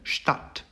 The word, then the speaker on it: Stadt: DT, TH의 경우에는 트 발음을 냅니다. 그래서 첫 번째 단어는 Stadt, Stadt라는 뜻으로 이제 도시, 뮌헨도 하나의 Stadt고요.